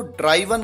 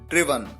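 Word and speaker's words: driven: कई बार स्टूडेंट्स इसकी third form को ड्राइवन कहते हैं, ये गलत है, आप ध्यान रखिए, इसका करेक्ट प्रोनाउंसिएशन है ड्रिवन।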